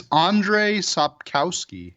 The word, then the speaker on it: Andrzej Sapkowski: Do you know how to pronounce his name? I believe it's Andrzej Sapkowski.